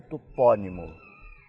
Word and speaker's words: topónimo: a sílaba fechada topônimo e os portugueses com a sílaba tônica aberta topónimo Então o que aconteceu